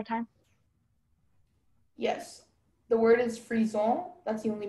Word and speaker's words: frison: The word is frison. That's the only pronunciation.